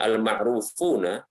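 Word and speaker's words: المعروفون: Adapun sahabat-sahabat, ya, mereka itu adalah, ya, amma sahabatu al-fuqaha'u, yang mereka itu adalah ahli fikih, ya, al-ma'rufuna, di sini yang benar adalah membacanya al-ma'rufuna, ya, yang mereka itu dikenal bil fiqhi, dengan kefakihan, wal futya, demikian pula dengan fatwa.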